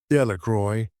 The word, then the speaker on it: Delqua: Bobby and Harry Jones and Dicky Delqua, the villagers pronounced this name Delroy, eventually made a great